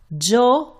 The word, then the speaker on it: yo: Okay, let's review the ones that you already know. Joe or Yo, you can pronounce Joe or Yo means I.